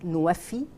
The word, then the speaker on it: NWFE: It's NWFE. It's pronounced in Arabic Nuwafi.